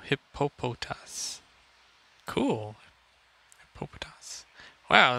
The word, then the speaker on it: Hippopotas: see what we get hip hop hotass i don't know how to pronounce it oh no hippopotas cool patos wow it's